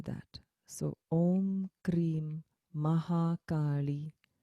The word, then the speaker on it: Kali: so om krim maha kali short a because there's no line over the a okay again okay